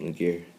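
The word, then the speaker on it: Mager: my name is mcar spelled m a g e r not m a g e a r pronounced mcar my name comes from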